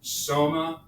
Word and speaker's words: Soma: a new doctor and always remember Soma rhymes with coma please we all know